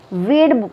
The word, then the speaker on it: weighed: अब देखो इसमें WEIGHED वेड पढ़ेंगे इसको, वेड। ओके, इसमें जो है बाकी शब्द जो है वो सारे साइलेंट हैं, सॉरी लेटर्स साइलेंट है।